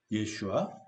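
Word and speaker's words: ישוע: 우리가 사용하고 있는 예수라는 이름이 히브리어는 예슈아 그렇게 발음되는데 이것은 여호수아, 모세의 시종으로 후에 이제 그 이스라엘 민족을 이끌었던 여호수아 다 같은 뜻입니다.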